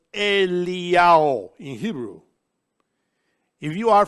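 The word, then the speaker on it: אליהו: Then, Yod Hey Vav, which spells Iyao, because in Hebrew, Elijah is pronounced Eliyahu.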